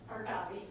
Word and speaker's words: Harkavi: Harka, how do you pronounce it? Harkavi. Thank you, Harkavi.